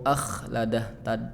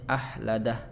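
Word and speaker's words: أَخْلَدَهُ: Kemudian di surah Al-Humazah ya ada huruf kha, annama lahu akhladah, tadi bacanya ahladah gitu ya, tuker.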